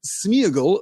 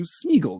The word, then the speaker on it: Sméagol: slide of tonight's session, the accent on the E tells us that that is supposed to be a double vowel sound. It is not supposed to be united into a single vowel sound, but Sméagol feels weird.